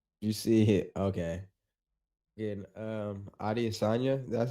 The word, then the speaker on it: Adesanya: Again, Adesanya, that's how you say his name? The UFC fighter? Yeah, Adesanya, Israel Adesanya.